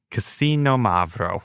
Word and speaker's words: Xinomavro: So Xinomavro, we're going to say it correctly now, which literally translates to sour black.